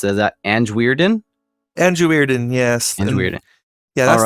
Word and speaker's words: Anjwierden: and I did not ask you how to pronounce it is that an weiron Andre weiron yes yeah that's the short version